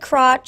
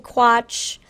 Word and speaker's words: Quatsch: It's like squash without an S, really. Well, some said crotch, some said quatch, some said quash. So I like quash. I think quash is what I will be going with. The T is silent in my brain.